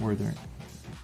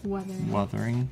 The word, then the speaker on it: Wuthering: Withering. It's not withering, it's wuthering. Yeah, it's a U.